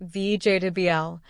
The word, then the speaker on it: vegetable: Many learners say Viji with four syllables, but in natural English, we say VJWL. Only three syllables and the middle part is very quick.